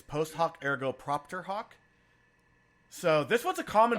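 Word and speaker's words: post hoc ergo propter hoc: not there you know actually said it wrong it's actually it's post hoc ergo propter hawk so this one's a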